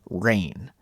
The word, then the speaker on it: reign: talk about the word rain although it has the same pronunciation as the weather it's spelled differently re e i g